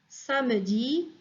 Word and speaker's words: samedi: lundi, lundi, mardi, mardi, mercredi, mercredi, jeudi, jeudi, vendredi, vendredi, samedi, samedi. Il y a كتكتب samedi ولكن on prononce samedi.